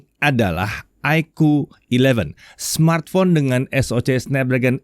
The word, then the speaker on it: iQOO: Ya, untuk yang belum kenal dengan brand iQOO, kita udah pernah bikin video spesial untuk perkenalan dengan si iQOO ini. Kalau penasaran soal brandnya, mungkin bisa cek video itu dulu ya. Oh ya, iQOO ini bacanya emang iQOO ya, bukan IQ, bukan.